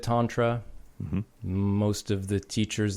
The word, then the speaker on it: Tantra: Most guys from most people from the Northeast say Tantra. Mm-hmm. And I think that's just, because of the way that they say their vowels. Mm-hmm. But I've always said Tantra.